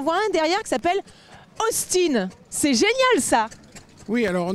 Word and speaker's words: Austin: sommes pas en Angleterre en Angleterre il se serait appelé Austin mais en France il s'appelle Austin on le prononce à la française ah bon la marque